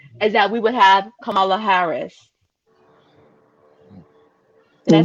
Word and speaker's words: Kamala Harris: voting for him is that we would have kamala harris can i say his name right did i